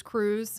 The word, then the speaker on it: Krewe: You're going to see a lot of those crews. When we say crew, we say crew with a K.